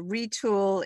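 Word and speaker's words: Retül: website terrific and uh retool is spelled r-e-t-u-l it's not o l correct yes retool it does have an umlaut on there um it actually did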